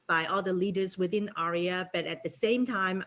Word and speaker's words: AREAA: you so much everybody to pronounce this a-r-e-a-a in the correct way a lot of people you know pronounce it wrong yes is arya it stands for the